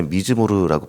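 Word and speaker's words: מזמור: 그니까이 시라는 단어는 히브리어를 봤을 때 미즈모르라고 발음하게 되는데 단순히 우리가 생각하는 시, 그러니까 눈으로 읽고 묵상하는 문학 작품의 그런 내용을 넘어서서 악기 연주에 맞춰서 부른 노래다.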